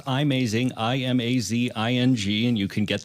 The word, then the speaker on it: iMazing: Jason what was the software called uh um amazing and what was the best full backup option for the iPad Jason yeah it's pronounced imazing i-m-a-z-i-n-g and you can get the app at